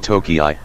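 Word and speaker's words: Tokei: 13 During the early Meiji period, the city was sometimes called Tokii, an alternative pronunciation for the same characters representing Tokyo, making it a kanji homograph.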